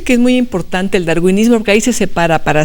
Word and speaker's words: darwinismo: en verdad ella domina el daruanismo que que ya ya se mencionó aquí, el darwinismo más eh propiamente pronunciado y Eh, yo también